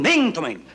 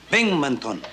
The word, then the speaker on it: Binghamton: Captain Binghamton. No, Binghamton. Binghamton. No, no, Binghamton. Accent on the ham.